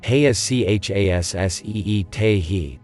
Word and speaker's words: Hesasiitehi: Pronunciation: in Arapaho, Heachasseetehi, the first syllable rhymes with yeah.